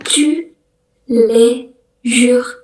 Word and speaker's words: tous les jours: Itu bacanya tous les jours, artinya everyday atau setiap hari gitu.